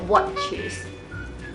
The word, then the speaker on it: watches: Again, it's the same as the last one. The T C H. คือต้องพยายามออกเสียงตัว t ด้วย watches เหมือนกับมันหยุดตรง watches it's like it stop at the t a little bit and then continue with ch Yes, watches exactly.